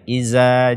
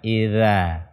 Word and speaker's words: إذا: Karena makhraj dzal ini ujung lidah bersentuhan dengan ujung gigi seri atas kita. Idza, ataupun jangan diganti dengan zai. Iza, ja, iza.